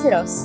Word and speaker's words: Syros: ஸோ அந்த கார் வேற எதுவுமே இல்லை, இப்போ புதுசா லான்ச் ஆயிருக்க கியா சிரோஸ். SYROS இதோட ப்ரொனவுன்சியேஷனுக்கு நிறைய பேருக்கு நிறைய டவுட் இருந்திருக்கும். ஸோ இது எப்படி கரெக்டா ப்ரொனவுன்ஸ் பண்ணோம் அப்படின்னா சிரோஸ், சிரோஸ்.